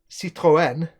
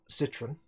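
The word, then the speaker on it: Citroën: you're supposed to say Seto n not Citroen I didn't realize that this you have to pronounce the e because it's accented there was we also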